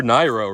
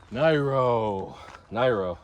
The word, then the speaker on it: Neiro: a spot listing for neiro, right? Neiro. I like how I got the pronunciation right. I was saying neiro for a few weeks, but now I'm saying neiro. That's the Japanese way of saying it.